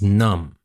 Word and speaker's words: numb: All right, now we have our next word, and that is numb. Numb is spelled N-U-M-B, but we don't pronounce the B in the end. It's a silent B, so we say numb.